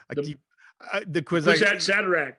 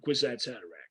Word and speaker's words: Kwisatz Haderach: Yeah, become the Kwisatz Haderach.